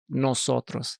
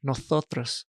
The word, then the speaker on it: nosotros: So instead of like how I'll pronounce my S, like let's say nosotros, the S, I pronounce it. In Spain, they don't do that. They'll say with like a TH, like, so they'll say nosotros or vosotros.